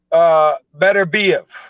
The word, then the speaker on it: Beterbiev: I was told by him, Beterbiev. Beterbiev, okay. Beterbiev. Right. But because instinctively, being English, American, I say Beterbiev. I say Beterbiev, even though I was told it was Beterbiev.